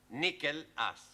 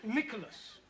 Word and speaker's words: Nicholas: upon a times there was a man called nickel ass it's not quite right no no once upon a time there was a woman called Nicholas it's pronounced Nicholas all right once upon a time there was